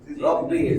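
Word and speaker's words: رَبِّ: রহিম না আর রহমান রাব্বুল আলামিন না রব্বুল আলামিন বুঝছেন তো রব্বি রাব্বি জিদনি ইলমান রব্বি জিদনি এই যে রা দেখেন এখানে র রব্বি আমরা বলি জিদনি জিদনি জিম না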